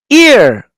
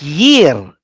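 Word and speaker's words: עיר: Ear. Notice how I pronounce it. Ear. I'm not pronouncing as year.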